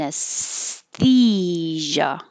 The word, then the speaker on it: anesthesia: very often and anesthesia so the s before the th your tongue is behind your teeth for the s whether you make your s up or you make your s down doesn't matter it's going to be behind the teeth and then it doesn't